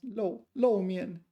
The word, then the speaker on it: 露面: Apparently it has to be pronounced low mian, even if I don't like it.